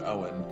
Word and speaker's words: Eoin: um so it looks like Eon but it's pronounced Owen and so he's Owen spell Sage and he